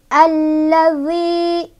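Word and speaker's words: الَّذِي: Alla, alladzi, zi ketemu sama mad tabi'i, sebabnya karena ada ya sukun didahului oleh huruf berbaris kasrah di huruf dal. Cara bacanya panjang dua harokat. Alladzi, zi.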